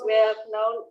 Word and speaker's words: well known: Nah, huruf K-nya nggak dibaca. Huruf K-nya itu silent ya, well known.